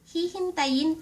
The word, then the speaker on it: hihintayin: If you wanna say I will wait for you ----- Hihintayin kita.